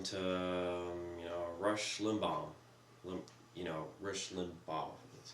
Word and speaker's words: Limbaugh: I mean, if the majority of their listeners like to listen to, you know, Rush Limbaugh, Rush Limbaugh, that's how you say it. Rush Limbaugh. I'm really bad at pronouncing things.